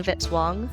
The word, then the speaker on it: Vitz-Wong: Music by Kevin Vitzwong, rhymes with hit song.